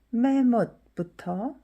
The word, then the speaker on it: แม่มด: 그럼 이제 메못부터 볼까요? 우선 발음을 들어보세요.